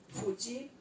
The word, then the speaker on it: Fuji: Natomiast prawidłowa wymowa to jest właśnie fuji, czy na przykład jujitsu, albo sushi.